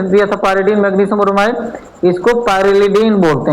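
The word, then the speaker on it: pyrrolidine: लिख दिया था पर पाइरेडीन मैग्नीशियम ब्रोमाइड इसको पाइरेलडीन बोलते हैं बेटा क्या बोलते हैं पाइरेलडीन स्पेलिंग सही कर लीजिएगा पाइरेलडीन बेटा ठीक जहां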